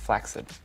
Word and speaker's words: flaccid: i'm seeing is the human equivalent of a flaccid penis black said it's actually pronounced flaccid not a lot of people know that one